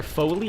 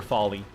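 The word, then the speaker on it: Follie: And I pronounce it either Foley or Folly.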